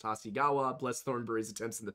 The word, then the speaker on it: Hasegawa: For the record, it's pronounced Hasegawa.